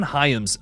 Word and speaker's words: Hyams: What, John Hyams? Is that how you say it? Yeah, John Hyams, director of Sick from 2023 and specifically 2020's Alone.